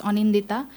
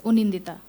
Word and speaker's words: Onindita: It is supposed to be pronounced as Onindita, but it said something else, Unindita. So we have O and O for the same representation, and it's not really rule based.